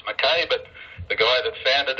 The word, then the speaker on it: Mackay: We live in a city called Mackay, spelled M-A-C-K-A-Y. Some say it's Mackay, but the guy that founded it was a Scotsman, and he pronounced it I, so I'll pronounce it Mackay.